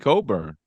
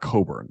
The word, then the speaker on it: Cockburn: Illinois former Illinois Center that's not Coburn though that's cockburn this is a Christian Brawn situation you don't get just to like tell us your name is spelled one way but it's pronounced another I don't like it's Christian